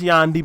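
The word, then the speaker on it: Yandhi: yeah Yandy I know it's supposed to be pronounced Yandy but like I said Kanye West I'm not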